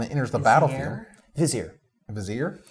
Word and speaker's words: Vizier: Vizier? Now it's Vizier. Vizier. 2 syllables. Vizier. Everyone's getting French on a Vizier.